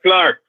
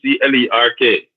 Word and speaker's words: clerk: And and used to be a clerk at one point in time. C L E R K.